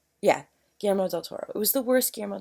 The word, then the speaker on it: Guillermo del Toro: Yeah, Guillermo del Toro.